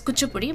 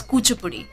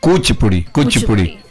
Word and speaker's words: Kuchipudi: Actually, you don't pronounce it as Kuchipudi, but it's Kuchipudi. Kuchipudi. So okay. it's almost like a double O instead of the U. Kuch, like Kuch Bihar.